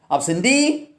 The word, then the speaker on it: absentee: Most of the words ending in self, e, ia, et and ik take stress on the last syllable.